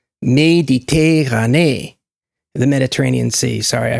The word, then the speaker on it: Méditerranée: in my brain was how he pronounced the Mediterranean Sea in French. He called it La Mer Méditerranée. And he made sure we heard that he did every E, accented E, as the same exact sound, because in French there's